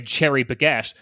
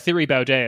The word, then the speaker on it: Thierry Baudet: I'm going to try to pronounce it the Dutch way, cherry baguette. But like the Thierry Baudet, as I've been calling him.